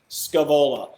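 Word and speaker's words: Scaevola: SC a the Ola Scoob Ola a couple probably different pronunciations for it I've always put Scoob Ola that's what's in my head so that's what I'm calling it buts Kavala is awesome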